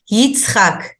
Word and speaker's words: Yitzchak: So that's why it's very important to learn the names by their real pronunciation. So Moses is actually Moshe, Avraham is Abraham, that's close, but Yitzchak is Isaac, Yaakov is Jacob.